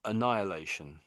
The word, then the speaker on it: annihilation: Um I think the for me the h is just too strong when you're saying it. I would say um annihilation.